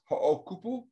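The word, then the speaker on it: Hoʻokupu: And is that pronounced ho'okupu?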